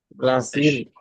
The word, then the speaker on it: Brasil: Brasil, recuerda la regra de la L. Cuando está al final de la sílaba tiene sonido de U.